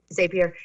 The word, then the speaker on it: Zapier: So let's start with Zapier, or if I'm pronouncing that correctly. Zapier. Yes, Zapier.